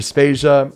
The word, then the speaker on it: Spacia: soundchat anonymous dinosaur and rhymes with asia my name is spacia and on episode 90